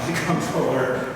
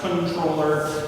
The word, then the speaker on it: Comptroller: Um, controller. Can it be pronounced uh comproller? It can be pronounced controller. Uh, I only really hear it pronounced controller.